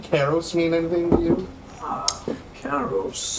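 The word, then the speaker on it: Karros: Is it Garros or Karos? Karos. Okay, see?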